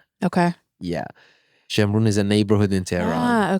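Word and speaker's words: Shemiran: How do you spell it? S H E M R O N. Okay. Yeah, Shamun is a neighborhood in Tehran.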